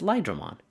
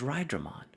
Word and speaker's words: Lyron: lyron as well as huh it's lyron all this time I thought it was ryron hot dog Japanese pronunciation at its finest anyway at the level